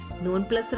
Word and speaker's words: nonplus: Nonplus rhymes with thus.